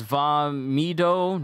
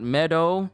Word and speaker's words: Vah Medoh: mifa quick thing it's vamido not meadow i don't know how